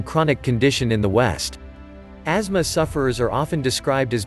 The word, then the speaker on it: asthma: What is asthma anyways? Asthma, pronounced AZ-muh, is a chronic, long-term, inflammatory disease that makes the bronchial airways particularly sensitive to irritants such as air pollution.